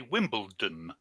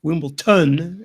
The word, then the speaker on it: Wimbledon: but I would say Wimbledon with a date with a team with it with a D for a delta because I will yeah Wimbledon that wimpleton as he was saying